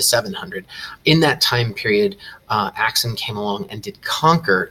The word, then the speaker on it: Aksum: a brief thing about pronunciation and writing it's pronounced Aksum and you can write it either with an